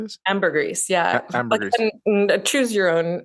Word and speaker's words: ambergris: Ambergris, yeah. Ambergris. Choose your own. Pick poison about the weird pronunciations here.